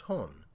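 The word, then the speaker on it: 本: Now, the first kanji here is pronounced nichi, and the second kanji is pronounced hon.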